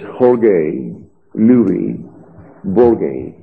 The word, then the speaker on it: Jorge Luis Borges: I know the man's name, if I pronounce the Spanish correctly, it's Jorge Luis Borges.